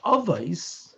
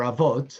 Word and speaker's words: Avot: The tractate of Avos, or Avot, however you want to pronounce it, I'm going to pronounce it Avos if you don't mind, by contrast, is speaking about beyond the letter of the law.